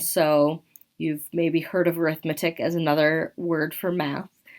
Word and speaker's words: arithmetic: Those two words are spelled the same, and so you've maybe heard of arithmetic as another word for math. When that word is paired with the word sequence, we pronounce it arithmetic.